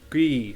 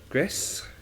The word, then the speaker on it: Gris: Gree. I think it's pronounced Gree. Gris. I don't think maybe Greece, but I don't like calling it Greece.